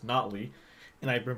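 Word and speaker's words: Notley: I was recently corrected today that it's actually pronounced not Lee and I've been pronouncing it wrong for eight months and no one thought to mention it to me how about no body no we'll go on nobly for tonight good evening payo time Canadian Rams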